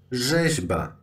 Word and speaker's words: rzeźba: Next is the combination of R and Z. And you should pronounce it as Żet. Żet. Like rzeźba. Rzeźba. Combination of these two letters is pronounced the same as a single letter Żet.